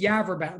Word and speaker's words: Yaverbot: again my name is yaverbot you can imagine what people do with that name um and if you're trying to pronounce it yourself you could it rhymes with cadaver town if that helps but